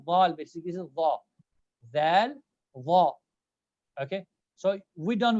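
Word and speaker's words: دال: This letter is pronounced as Dal. Like I'm touching my front of my tongue to the top, lower to top teeth. It's like Dal.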